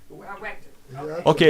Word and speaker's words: Wechter: Oh, it's a Wechter. A Wechter.